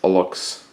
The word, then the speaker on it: ALUXX: One note about this frame: there's 3 grades of Alux. I believe that's how it's pronounced. ALUXX is the spelling of it.